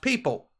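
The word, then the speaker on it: PYYPL: company p y y p l which is pronounced people okay and that brings us to this which ripple has been eyeing the men of markets due to the value of its remittance networks its partnership with people to deploy on-demand liquidity in the middle east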